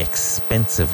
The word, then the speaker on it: expensive: The old one isn't the cheap one, it's the expensive one. And hit that X in expensive.